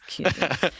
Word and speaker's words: Kussin: Did I say it right, the last name? Yeah, you did. Kussin. For those of you who don't know, yeah. It's Kussin.